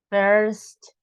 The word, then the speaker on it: first: birthday okay and first we pronounce the r s t we don't say fair no first first okay first good Mr